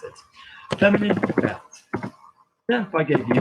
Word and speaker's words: verte: So if I gave you this word, green, there's no vowel after that T, so I'm not going to pronounce it. Feminine, verte.